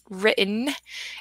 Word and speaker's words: written: we actually pronounced that written it's the silent T like we talked about last time silent he written and